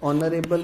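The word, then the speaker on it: honorable: अगर sound vowel है, जैसे ऑनेस्ट में फर्स्ट लेटर एच जो है वो साइलेंट होता है, ऑनरेबल में फर्स्ट लेटर एच जो होता है वो साइलेंट होता है, इनको हम प्रोनाउंस नहीं करते हैं।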